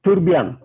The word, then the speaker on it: Trebbiano: most likely come from the local dialect accent to pronounce Trebbiano. So they would call it Turbian.